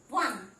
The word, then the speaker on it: one: We know it begins with a vowel O, but the first letter O is pronounced as W, one.